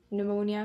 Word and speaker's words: pneumonia: it like psychological it's there's a p but you don't say it you pronounce it maybe it's the same with spano pneumonia maybe spontaneous spontaneous aesthetic